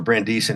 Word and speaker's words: Brandeisian: I'm called a neo-Brandeisian, I guess it's pronounced, or Brandeisian after Louis Brandeis.